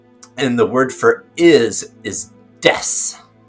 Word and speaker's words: desu: And so des, D-E-S, in Japanese they put desu, but it's pronounced des.